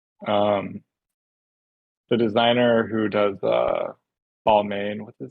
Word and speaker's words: Balmain: I think it's pronounced like Balmain, Balmain. Balmain.